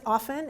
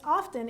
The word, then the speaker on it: often: How many people pronounce the T?